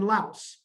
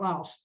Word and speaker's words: Laos: the philippines and in laos and by the way i learned that laos is actually pronounced lao not laos so it's those three